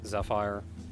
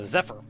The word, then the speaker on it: Zephyr: Um, I think it was Zephyr they said like the Y is silent. Okay, learn something new. uh Zephyr.